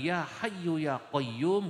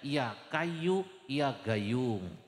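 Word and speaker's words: يا حي يا قيوم: Bacanya bukan ya hayyu ya qayyum, Gus, bacanya ya kayu ya gayung.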